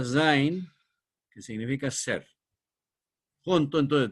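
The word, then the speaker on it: Sein: da ahí y se que se pronuncia zin que significa ser junto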